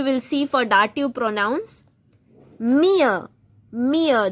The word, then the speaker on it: mir: Mir. Mir. Don't say mir. It is not mir. It is mir.